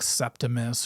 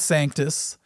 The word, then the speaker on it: Sanctus: He actually pronounced it correctly, unlike a lot of other people who would pronounce it like Septimus or Santis. The guy said Sanctus.